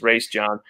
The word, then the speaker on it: Raesjon: I mean, here's what I'll say to Raesjon Davis, and that's how his father pronounced his name was in our interview, is Raesjon.